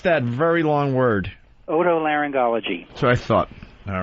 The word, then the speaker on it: otolaryngology: welcome aboard doc hello sir how do you pronounce that very long word otolaryngology so i thought all right auto laryngologist your